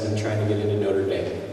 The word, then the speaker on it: Notre Dame: And because Notre Dame, which is a bad French pronunciation of the real way you would say that, it means our mother, our lady, right?